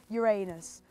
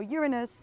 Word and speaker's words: Uranus: So now I've trekked 1,240 meters from my starting point over there to put down this little legend, Uranus, or Uranus, either pronunciation is fine.